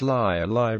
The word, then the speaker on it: Leigh: The name of this village is pronounced Leigh by local residents rather than Lee, and probably comes from the Old English meaning grove glade.